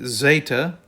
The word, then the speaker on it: Zeta: then we have the Zeta The Zeta is pronounced with a DZ sound as in Z then we have the